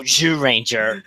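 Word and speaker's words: Zyuranger: It's written ZYU Ranger, but it's pronounced Zhu because of the ZR thing in Japanese. So Zhu Ranger.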